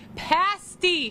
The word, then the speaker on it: Pasty: outside we're starting the show with Union Jack's Pasty Shack did I say it right yes that's